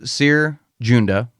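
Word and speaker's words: Cere Junda: The only thing that this comic really has in common with Jedi Fallen Order from EA is it follows Seer Junda, I think so you say her name, as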